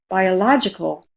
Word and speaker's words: biological: Biological. Biological. That is a five syllable word. Biological. Biological. Third syllable. Right. And what color is it?